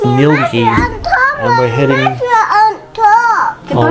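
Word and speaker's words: Ngilgi: please tell me so we're at milgi caves it's pronounced nilgia and we're heading in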